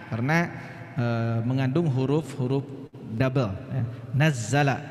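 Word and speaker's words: نَزَّلَ: Nazzala ya, dari nazala nazzala ya, itu beda ya.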